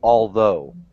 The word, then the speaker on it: although: Although. It's like a D when you say although.